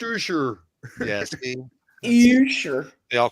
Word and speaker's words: Usher: See now, my kids told me it was pronounced Ursher. Ursher. All right, that was Further, it's pronounced Usher.